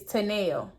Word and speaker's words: Tanel: So if y'all ever needed to know how to pronounce that T name, it is Tanel.